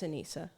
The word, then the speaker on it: Anisa: Is that how you say it, or is that because I was saying Anisa earlier and people are like that's wrong? Yeah, it's Anisa. Yeah, Anisa would be with two S's.